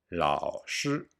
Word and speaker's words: 老师: 老师老师 You must pay great attention to the pronunciation of the tones and on the lao. If you mispronounce 老师 and say 拉屎, it means to shit.